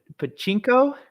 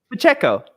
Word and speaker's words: Pacheco: have him or uh I keep pronouncing an n in this last name so I'm going to try to not but but Pachinko Pacheco that Pacheco there we go I